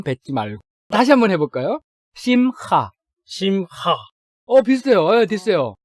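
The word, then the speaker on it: שמחה: 왜 어려우냐면은 네 글자로 이루어져 있는데 세 번째 글자 헤트라는 알파벳 발음이 우리 발음에는 없는 발음이에요. 저도 사실은 정확하게 발음한다고 할 수 없는데 현대어의 발음과 비교한다면 독일어에 이런 발음이 비슷한 발음이 있어요. 뭐 바흐라든지 이히라든지 이런 발음하고 비슷하기 때문에 조금은 신경을 써서 발음을 해봐야 돼요.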